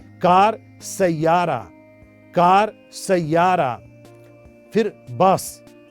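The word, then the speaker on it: باص: फिर बस, बस की अरबी है बास। वो भी बस बोलते हैं लेकिन थोड़ा सा प्रोनाउंसिएशन में फर्क है।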